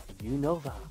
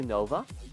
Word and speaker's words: Unova: Register 156 Unova. Unova. I say Unova. That's what I always used to say, but it's pronounced Unova, like very quickly.